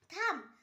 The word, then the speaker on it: thumb: কোম, COMB কোম, এখানেও বি এর পর ভাওয়েল নেই তাই বি এর উচ্চারণ হয়নি। থাম, THUMB থাম, এখানেও বি এর পর ভাওয়েল নেই তাই জন্য বি এর উচ্চারণ হয়নি।